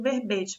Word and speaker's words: verbete: Lá na página 31 da apostila de vocês, nós temos o significado expresso no dicionário impresso do que seja o verbete, pronúncia fechada e.